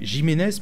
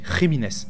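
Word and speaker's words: Jiménez: jiméz pardon ah oui parce que jiméz c'est un nom espagnol du coup les le J se prononce r donc c'est pas jiméz mais rines du coup pour avant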